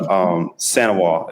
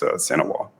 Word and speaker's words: St. Ewart: But Sanois is how you say my last name. The is in French, and you don't pronounce the T in it. So it's Sanois.